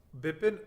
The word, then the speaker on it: Bipin: you thank you for sure how should I pronounced it it's Bipin rhubarb pie the problem is the D ed